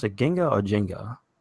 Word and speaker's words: Ginga: So they pronounce it Ginga or Jenga? It's Ginka. Gotcha. Ginka.